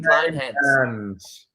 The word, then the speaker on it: Kleynhans: I say to people, if you can say Klein, then you can say my name, Kleynhans.